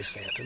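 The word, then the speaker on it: Staunton: Near Stanton, which actually is spelled Staon, but for some reason we say Stanton, but okay.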